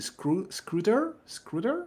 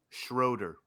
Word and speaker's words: Schroeder: And this judge, how is the pronunciation? Scruder? Is it? Am I butchering his last name? Anyway, he Schroeder. demanded the prosecution. Oh, sorry, Schroeder.